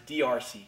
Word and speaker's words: D'Arce: choke in some circles they call it a darce choke the actual way it's pronounced is drc choke if you want to call it that